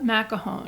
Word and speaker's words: McElhone: And Natascha I don't know how to pronounce her name. I have it. Okay. Her name is Natascha McElhone.